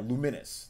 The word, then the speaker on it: Lumines: And yeah, it's Lumines. Yeah, Lumines. That's how you pronounce it. Well, the pronunciation is Lumines.